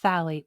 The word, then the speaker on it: phthalate: It's pronounced phalate, but it's spelled phthalate.